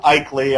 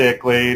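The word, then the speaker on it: ICLEI: I believe you were talking about that just a bit ago when you were talking about as you pronounce it, Ikley, I call it Ickley, it's still the same nefarious beast.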